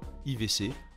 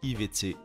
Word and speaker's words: IWC: Quant à IVC, cela provient certainement du fait que la langue parlée dans la ville Schaffhausen soit l'allemand, et que IWC se prononce IVC dans la langue germanique.